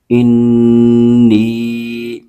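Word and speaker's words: إني: لام زبر لا قال حمزہ نون زیر ان نون یا زیر نی انی حمزہ عین زبر آ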